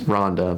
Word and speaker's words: Ronde: this Red Kite Ronde, which we've been pronouncing it wrong the entire time. It was Ronda, but we're calling it Ronde, so.